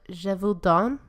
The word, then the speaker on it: Gévaudan: I don't want to Make your mouth pronounce. I don't care. look like this. So, Voila. the Beast of Gévaudan.